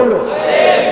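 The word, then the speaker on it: ألف: প্রথম অক্ষরটা লেখেন একটা টান দেন কি হইলো আলিফ জোরে কন কি হইলো আলিফ আলিফ আলিফ আলিফ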